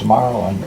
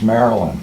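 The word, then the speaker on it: Marlyn: And even though my name is Marlon, it's spelled M-A-R-L-Y-N. Mm-hmm. And that creates a little confusion. It results in people looking at it too quickly and arriving at the name is Marilyn.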